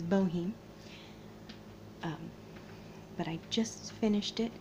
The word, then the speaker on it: Bohem: means both junk and I realized I said his name wrong the last time I said bone is Boheme but I just finished